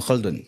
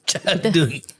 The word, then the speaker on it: Khaldun: A Ibnu Khaldun. Khaldun. Caldun. Abang kenapa ejaan dia C H A?